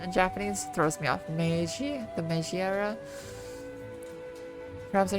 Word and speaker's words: Meiji: Maji? Maji? Usually there aren't often that syllables go unpronounced. No, it'd be Meiji. So Meiji.